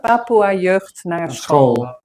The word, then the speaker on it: Papoeajeugd Naar School: Papoeajeugd Naar School.